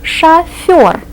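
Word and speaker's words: шофёр: Sha Sha means what think of an English word that has a similar sound Sha chur or a professional driver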